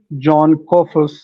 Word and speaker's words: Jon Kofas: John Kofas. Well, I apologize if I pronounced your name incorrectly, No, because it's there pronounced.